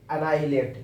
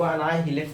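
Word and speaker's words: annihilate: prominent second word है अना लेट इसको अनाई हिलेट नहीं पढ़ेंगे एच को साइलेंट करके प्रोनाउंस करेंगे ए डबल एन आई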